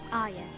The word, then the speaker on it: Arya: her name is, and she says, Arya. so yes, I'm pronouncing it right, shut up.